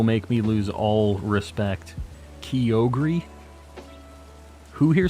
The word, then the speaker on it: Kyogre: gotta be kidding me we're not saying Kyo gray not in this house I'll turn this car around right now Kyogre just sounds sweet groudon's